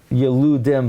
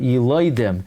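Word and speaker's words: ילודים: So, by the way, clearly the Ran learns that the way to pronounce the word is not Yeludim, but Yiloidim. Because the Ran says the truth is Yiloidim, everyone agrees.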